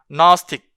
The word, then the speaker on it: gnostic: 요거랑 그 다음에 또 여기서도 여기서는 또 여기도 그 사운드가 발음이 안 돼요. gnostic 이렇게 들어가는데 여기에서는 발음이 된단 말이죠.